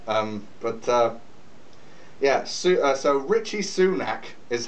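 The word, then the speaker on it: Rishi Sunak: please um no um but uh yeah so Richie sunac is how you pronounce his name by the way Richie Rich Richie Rich Richie soonack that's probably going to be his nickname um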